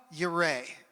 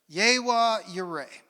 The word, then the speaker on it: Yireh: But one of the Hebrew names for God in the Old Testament is pronounced Yireh. Can you say that? Yireh.